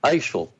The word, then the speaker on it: Asheville: chapel hill and asheville there was pronounced isil like like louisville is louisville asheville is